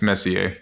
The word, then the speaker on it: Messier: glad well he pronounced he pronounced it on the song Messi but it's Messier oh Messier okay yeah yeah but he's yeah he's coming to America Messier that's how you say his name okay well [ __